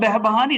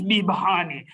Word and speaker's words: Behbahani: It's not Behbahani, it's Bihbahani.